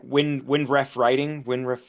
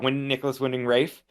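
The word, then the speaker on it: Nicolas Winding Refn: Is I never say his name right, but it's like Windref Writing. Oh no, like Nicholas Winding Rafe. Yeah, Nicholas Winding Rafe.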